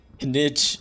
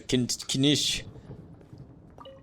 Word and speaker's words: Kinich: Kinich. Yeah, it's a kinish.